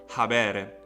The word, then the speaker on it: habere: H it's like the aspiration in English, and so we have the verb habere, which means to have.